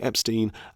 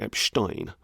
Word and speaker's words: Epstein: the serial pedophile Jeffrey Epstein as Jeffrey Epstein now personally I would have been inclined to pronounce it Epstein because I know enough German to know how to pronounce that name I have heard it